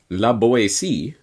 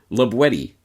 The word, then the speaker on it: La Boétie: Properly pronounced not, as might be thought, La Boétie, but rather La Boétie, with the hard T, as it was pronounced in the Périgord dialect of the region in which La Boétie lived.